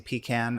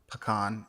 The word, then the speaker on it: pecan: There's also an existing pecan or pecan, if your choice, in pronunciation, grove on the site.